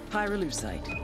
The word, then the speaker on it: pyrolucite: him you know what pyruleucide is right yeah neither did I pyrolucite key syllable pyro by the way is the [ __